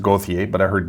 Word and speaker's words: Gauthier: bastian the rangers julian gother well it's really pronounced gothia but i heard gother but it's really i would pronounce that gauthier